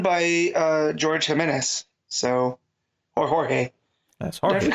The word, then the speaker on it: Jorge: Constantly correcting them into Jorge.